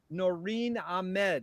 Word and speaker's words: Noreen Ahmed: interview number interviews number five we're here with noreen ahmed is that the correct way to pronounce it yep that's me noreen what a